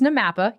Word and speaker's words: NAMAPA: So it it's Namapa.